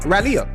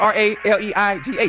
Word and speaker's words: Raleigh: I've been to uh Raleia.